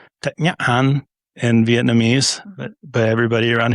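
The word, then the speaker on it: Thích Nhất Hạnh: And it's Thich Nhat Hanh in Vietnamese, but everybody around here says Thich Nhat Hanh. Some people say Thich Nhat Hanh, but it's not, but he's Vietnamese.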